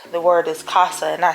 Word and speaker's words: Casagear: He like, you know, it's pronounced Casa. Like, mi casa, su casa, home gear.